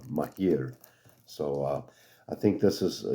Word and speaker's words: Maahir: That's how you spell it, but pronounced Maahir.